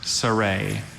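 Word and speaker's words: sereh: Are there any alternate pronunciations? Just saray. Saray.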